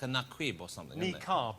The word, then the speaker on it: niqab: But we also put, I think it's either naquib or nakid. It's something like that. It's like a naquib or something. Niqab is how it's pronounced.